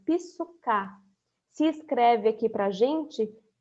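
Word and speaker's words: ψυχή: Mas existem outros momentos em que aparece ainda uma segunda palavra, também no grego, que é a palavra que no grego se pronunciaria psuká.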